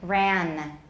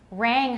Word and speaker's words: rang: and words like these they often substitute an alveolar nasal where there should be a velar nasal for example rang will often be pronounced ran rang honduran and ran and